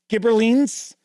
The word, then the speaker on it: Ghibellines: The Ghibellines align with the Hohenstaufen dynasty, clinging to rule in Italy, while Guelphs back the Pope as challenger to imperial authority. Yes, and that is how those are pronounced.